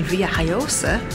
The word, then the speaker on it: Villajoyosa: So if you find yourself in Villajoyosa, as I've now been taught is how it's said, then come and check this out, because it's definitely worth it.